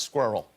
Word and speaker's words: squirrel: How do you pronounce squirrel? America. Okay. The correct pronunciation for squirrel is squirrel. It is. Let me say this. It's two syllables.